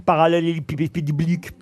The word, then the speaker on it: parallélépipédique: C'est pour faciliter sa manutention, voyez-vous, que l'amas est compacté en forme parallélépipédique. Ah bah dites-le vous au moins, allez. Parallélépipédique. Non, parallélépipédique. Bah, voyez, il vous manque une syllabe.